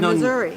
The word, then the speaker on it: Missouri: Missouri.